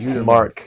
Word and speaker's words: Uitermarkt: Uitermarkt. So even though there's a T on the end, it is silent.